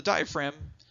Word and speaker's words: diaphragm: And yes, it is spelled a little funky. It's got that silent G in there. Diaphragm is how you say it.